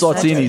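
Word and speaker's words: Eswatini: the yard sale I'm glad you got to spell that word where y'all going now yeah it's saltini so it'd be uh e-s-w-a-t-i-n-i um this is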